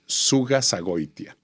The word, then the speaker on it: Zugazagoitia: The way I pronounce it, that is not the way my kids pronounce it, is Zugazagoitia. And it is Spanish. Spanish Basque.